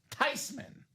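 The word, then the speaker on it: Theismann: mad that Joe changed his last name from Thesman to Thyman?" She said, "Nope. I'm okay with it because technically it's pronounced Tyman."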